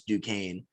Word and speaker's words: Duquesne: have florida state duquesne first of all don't know how it's spelled like that and then pronounce duquesne making it makes absolutely no sense to me but florida state won